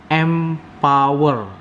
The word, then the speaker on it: MPWR: Jadi MPWR itu bacanya itu Empower ya.